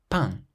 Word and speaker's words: pain: So how would you pronounce this first word, which means bread? Pain, pain.